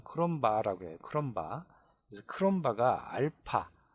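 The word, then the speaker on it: Cronbach: 크롬바 그라는이 뭐 독일 사람이 마크라고 발음하는데 영어식 발음은 크롬바 해요 크롬바 그래서 크롬바 알파 알파라는 계수로 제한을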